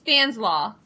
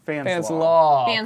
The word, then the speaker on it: Fanslau: It's Fanslaw. Fanslau. Like coleslaw.